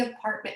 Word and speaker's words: apartment: you know is apartment how do you say apartment apartment you know which one is the stress syllable the second one you know how many syllables three contrary to many people think it's four it's only three and you know how